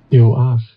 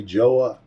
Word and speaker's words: Joah: There's no J sound. It's really more like a Y sound, okay? So this J-O-A-H, listen to its pronunciation. Turn my speaker down. Let me do that again. Yo-ah. Yo-ah is how it's actually pronounced.